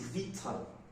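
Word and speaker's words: victual: we come to this it's not ritual it is vital vital it is food for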